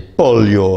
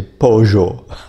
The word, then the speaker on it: pollo: In Argentina, we pronounce them je. So I say yo soy. And I don't say mayo, I say mayo. And I don't say pollo, I say pollo.